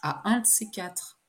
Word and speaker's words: à un de ces quatre: un de ces quatre ça s'écrit à un de ces quatre mais ça se prononce à un de ces quatre 6 donne-moi de tes